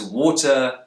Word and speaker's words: water: The words water, authority, and fighting have a T in the middle. Brits will tend to pronounce a T sound here, t, but Americans will use a tap. This may sound like a short D sound, or even an R sound if you're a non-native speaker of English.